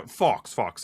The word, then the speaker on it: Fauwkz: Yeah, Fauwkz. Yeah, Fauwkz, like the animal.